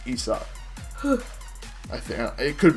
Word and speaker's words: Isaac: I mean, us Americans pronounce it as Isaac, but the French, it's Isak.